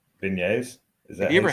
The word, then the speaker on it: beignets: Beignets. Beignets. It sounds Beignets. like beignets. It's a soft G.